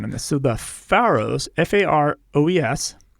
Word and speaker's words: Faroe: So the Faroes, Faroes, it's a group of 18 islands in the North Atlantic, about halfway between Norway and Iceland.